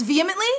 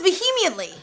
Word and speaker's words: vehemently: defended its business practice you said it the way I say it vly it's vehemently I thought it's vemi my brain says vehemently to spell it it's kind of like when you like you say but it's actually vehemently vehemently we're keeping all